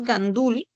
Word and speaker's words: gandul: La palabra es gandul. La sílaba tónica es dul.